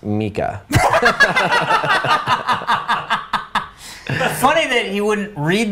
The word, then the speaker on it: Micah: Micah, pronounced Mika.